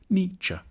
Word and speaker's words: Nietzsche: the challenge begins with how to pronounce his name the first bit should sound like n the second like cha n cha then we need to get past some of